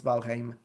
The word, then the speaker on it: Valheim: Yeah, I studied that one. I researched it. I'm like, this is Old Norse, so let's check it out. And it's Valheim.